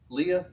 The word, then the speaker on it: Leah: and it came to pass that in the morning behold it was how do you say that name leah thank you i was trying to figure that